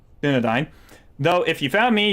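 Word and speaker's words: Dúnedain: I am of the I can't pronounce that. of the Dunadine. Dunadine.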